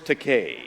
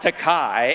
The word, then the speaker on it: Takei: alcoholics good evening bill my name is george takei not takai as you've insisted on pronouncing it for the last 40 years remember that's real take like in toupee that's it it's a